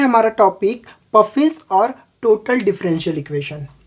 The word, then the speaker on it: Pfaffian: ठीक है, तो ये पफिन इसको बोल सकते हैं, या फिर यहाँ पर कभी कभी मतलब कुछ लोग इस पी को साइलेंट मान के चलते हैं, इसको पफिन्स डिफरेंशियल इक्वेशन बोलते हैं।